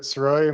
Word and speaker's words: Sirois: My name's Siroi. My last name is spelled Sirois.